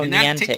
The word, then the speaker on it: Niantic: Oh, Niantic.